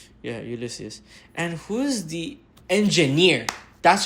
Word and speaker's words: Ulysses: Yeah, Ulysses.